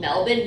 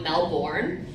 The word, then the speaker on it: Melbourne: you go to Melbourne it's called Melvin not Mel born because I got corrected and Shirley hasn't been I got crooked so many times from Australia that it's not Melbourne it's Melvin even though it's spelled Melbourne so I'm going to